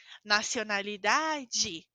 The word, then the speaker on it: nacionalidade: Lembram que quando a gente coloca de ao final, a gente fala de, como boa tarde, nacionalidade.